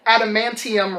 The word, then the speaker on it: Adamantium: Mortal Kombat 3, Wolverine, I always say this wrong, Adamantium Rage.